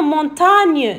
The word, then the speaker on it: montagne: Une montagne, nye, G-N, on prononce nye.